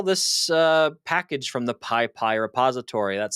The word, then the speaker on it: PyPI: hey go install this uh package from the piie repository that's spelled pypi if you're not familiar with what